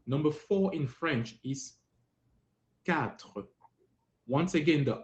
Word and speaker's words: quatre: The short way is quatre. You don't have to say tre. Just say quatre.